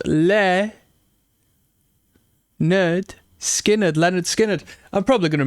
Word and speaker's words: Lynyrd Skynyrd: Put me on to Lynyrd. Skynyrd. Oh, we've got the actual pronunciation here. Pronounced Lynyrd. Skynyrd.